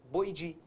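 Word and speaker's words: Boidae: grupo que é chamado de como que eu disse escreve boidi mas você fala boidi no grupo boidi vai entrar gibo e vai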